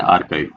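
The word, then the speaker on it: archive: Justice, इनफर्मरी, जुरिसप्रुडेंस एंड आर्काइव। इसको कैसे pronounce किया? प्रोनाउंसिएशन होता है आरकाइव।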